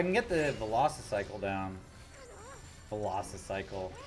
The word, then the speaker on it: Velocicycle: Velocicycle. Like it's spelled like a Velociraptor.